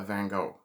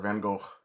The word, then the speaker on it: Van Gogh: throwing soup at a van Gogh and I'm sorry for anyone who pronounces it Van Gogh or Van Gogh I don't do that it's Van Gogh I'm a North American